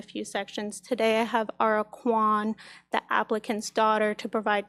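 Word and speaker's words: Ahra Kwon: Today, I have Ara Quan, the applicant's daughter, to provide testimony regarding the property's use. Summer. So, my name is Ara Quan. It's spelled A H R A K W O N.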